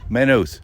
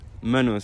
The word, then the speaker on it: Maynooth: are here in Maine how is the correct pronunciation first of all menos menus so the why you would eliminate it well